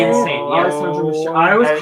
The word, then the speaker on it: Alessandro Michele: Alessandro Michele. I always called him Alessandro Alessandro Michele.